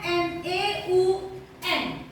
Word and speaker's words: Neun: Nah, angka 9 tulisannya N-E-U-N. Nah, kalau dalam bahasa Jerman EU itu dibaca menjadi OI, ya, Neun, Neun, gitu ya, Neun.